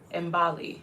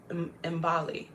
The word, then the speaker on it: Imbali: Can you pronounce the African word for Mayflower? Imbali. It's the Zulu word for a flower. Imbali.